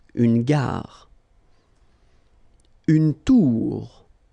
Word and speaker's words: tour: Une tour. Okay, O-U-O-U. Une tour.